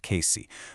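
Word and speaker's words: Cayce: That's pronounced Casey.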